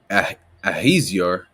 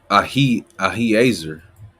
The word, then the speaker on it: Ahiezer: captain of the children of Dan shall be Ahaziah, right? Let me pronounce that right, Salaki. Right? Ahiezer.